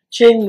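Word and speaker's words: Qing: To my right is Ching Lin. First name is spelled Q-I-N-G, pronounced Ching.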